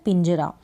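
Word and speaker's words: page: केज हो गया, केज का मतलब होता है पिंजरा। फिर है PA ज, और फिर ये ई को प्रोनाउंस नहीं करेंगे तो पेज हो गया।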